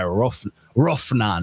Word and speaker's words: Rophnan: Sidist was it 6 by Rophnan. The PH is pronounced mad harsh.